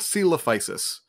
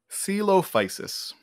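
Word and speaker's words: Coelophysis: that one more time celophysis it's it's not spelled how you think um yeah so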